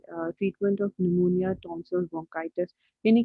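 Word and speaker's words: pneumonia: तो ये treat for the treatment of PNEU, नमोनिया। ठीक है। सो नमोनिया, देखिए नमोनिया के स्पेलिंग पी से स्टार्ट होती है, आपको पता होना चाहिए।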